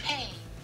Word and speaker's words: hei: So, this is how you say hi in Finland. Finnish. Hey. Hey. H-E-I.